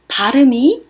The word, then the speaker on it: blew: 하지만 우리 가 " 바람 이 불었다 " 라고 말 할 때 는 "blew" 라고 발음 합니다 . 철자 는 "blew" 입니다 . "o" 가 "e" 로 바뀌었고 , 발음 은 "blew" 입니다 .